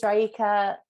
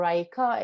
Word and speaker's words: Raeeka: So yeah, my name is Raeeka. I guess that's the English pronunciation, or Raeeka. If you are Iranian, I'll take either.